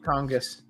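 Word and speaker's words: Tonges: Tongis.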